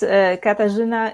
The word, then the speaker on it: Katarzyna: Yes, this is Katarzyna. It's Polish name, so I know it's really difficult to pronounce, for English-speaking people.